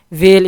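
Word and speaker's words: whale: वेल इसमें H silent है, एक बड़ी मछली को कहते हैं, ठीक है।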